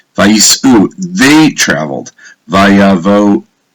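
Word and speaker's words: וַיִּסְעוּ: It says, look at the Hebrew, Vayisu. You see this letter here? That is pronounced as an U, which makes it plural. Vayisu, they traveled.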